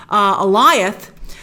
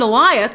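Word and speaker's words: Alioth: He said, I found Eliath, correct pronunciation, I found Eliath that you guys met, and I weaponized him.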